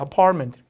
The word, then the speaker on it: apartment: 하지만 실제 발음이 이렇게 됩니다. apartment. 바로 약간 parliament 이렇게 들려요. parliament.